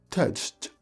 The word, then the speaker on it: touched: Touched. Le lived paraît beaucoup plus facile à dire que touched. Donc, pour le touch, on va tenter notre troisième prononciation. En t. Touched. Touched. Ça passe un peu plus.